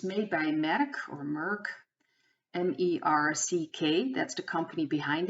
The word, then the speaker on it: Merck: hands of the family medic or merck that's how you pronounce it but five till ten